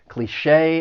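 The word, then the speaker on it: cliché: Cliche. It has two syllables. The stress is on that second syllable and the ch e with the accent mark sounds like shay.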